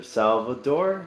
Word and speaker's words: Salvador: Salvador. Is that how I pronounce that? yes.